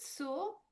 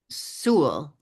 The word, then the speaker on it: Soule: It was Yeah. pronounced soul until later on when my my mother's grandmother decided to add the accent and make it Soule because she thought it Oh, was more elegant.